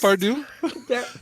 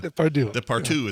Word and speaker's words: Depardieu: Depardieu? Depardieu. Yeah. Depardieu is pretty close.